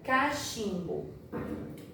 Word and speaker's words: cachimbo: Agora, olha a palavra cachimbo. Cachimbo. CH, aqui tem o som de X. Nesse caso, o H ele não tem o som.